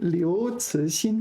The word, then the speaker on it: 刘慈欣: 刘慈欣, yeah, 刘慈欣, who wrote Santi, the famous novel Santi, Three-Body Problem.